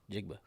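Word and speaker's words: Njigba: forgot who it was jackson smith i can't pronounce the last name we'll start with jigba jigba yeah n-j-i-g-b-a see that's one of those cool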